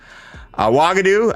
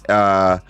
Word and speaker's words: Uagadou: Wagadoo, I mispronounced it. No. There's a G and it's Uagadou.